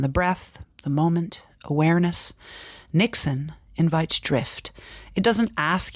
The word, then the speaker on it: niksen: I've heard that you have a thing called Nixon. Maybe I'm not pronouncing it right, but it's the art of doing nothing. Oh, Nixon.